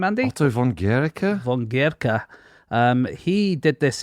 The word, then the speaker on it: Otto von Guericke: Otto von Guericke?